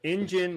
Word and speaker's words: Enjin: the Tema engine here engine which is spelled e n j i n as you can probably